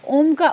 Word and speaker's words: ओम: तो इस तरीके से अ उ और म को मिलाकर हम ओम का उच्चारण करते हैं ओम का उच्चारण हमारे